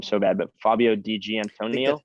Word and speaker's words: Di Gianantonio: I'm gonna butcher his name so bad, but Fabio Di Gianantonio.